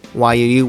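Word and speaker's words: Yuu: So if you see Y-U-U, which is pronounced Yu, and that means more or less, it's just a name, but Yu sounds like our English U-Y-O-U, which we designate as her,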